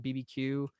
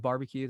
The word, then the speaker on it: BBQueue: probably just call it BB Q again but you know what are gonna do but BB q is probably how I would canonically pronounce it if you wanna call it barbecue that's that's cool - is there something